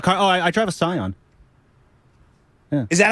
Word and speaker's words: Scion: oh I drive a Scion is that how you pronounce it yeah Scion Scion not skion I never knew how